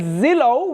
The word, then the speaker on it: Zillow: The other one we have is Zillow, which is 99.9 free.